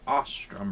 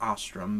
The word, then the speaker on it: Ostrum: mess up or anything, Peter Ostrum, or Ostrom. I think it's pronounced Ostrom, but no big deal.